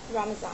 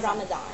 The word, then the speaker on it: Ramadan: Ramazan, yeah, not Ramadan. Not Ramadan. Yeah, that's the Ramazan. English version. Actually, I think a lot of I think in different parts of the world they pronounce it differently.